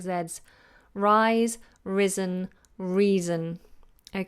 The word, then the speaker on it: Rhys: how do you pronounce Rhys Rhys that s is more like a Zed because it's voiced Rhys risen and reason all of them are pronounced like Zed's Rhys risen reason okay who